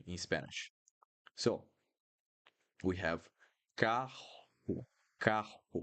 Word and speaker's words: carro: So here in all these words at the top, the sound will be very similar to hotel, hotel, hotel.